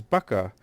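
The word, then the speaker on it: بكة: 3:96 is pronounced as Baka with a b and not with an M but this slight linguistic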